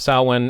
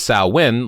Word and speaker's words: Samhain: And then it talks about here with some of the origins of sah-win, and it says sah-win is pronounced sow-in, sow-in, versus sah-win, like the other site.